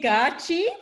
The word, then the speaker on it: gaatjie: I said it wrong for ages, and then Jay kindly corrected me one day, so she can pronounce it better. It's technically gaatjie, but it's all Well, good.